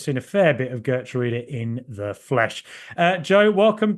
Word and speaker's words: Geertruida: Secondly, it's probably worth Villa fans knowing how to pronounce his name. It's quite a tricky one. It's actually Geertruida, which is very, very difficult.